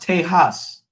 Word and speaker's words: Tejas: it was nexo yeah texas was actually pronounced tejas we stu like it